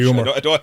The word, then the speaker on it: humour: It's humour as far as I know anyway. Is it? Like when you're not in the mood, I'm not in the humour. I don't think there's a silent H anymore.